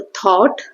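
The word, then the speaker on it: thought: ऐसे पाओ प्लव then ओ तो थॉट अ थॉट ये ओ साउंड हो रहा है।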